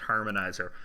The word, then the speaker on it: Harmonixer: It's spelled harmonixer, but I think it's pronounced harmonizer.